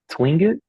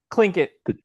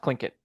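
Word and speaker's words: Tlingit: I think his tribe was the uh Tingit Clinket. Uh T L I N G I T. It However, it is pronounced Clinket. Clinkit.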